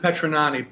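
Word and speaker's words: Petragnani: Printing and uh uh Vincent ponani p p t r a g silent g n a n i but he disappeared and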